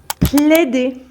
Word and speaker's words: plaider: Plaider. Plaider. Donc, le AI se prononce comme un E ouvert, comme dans mère.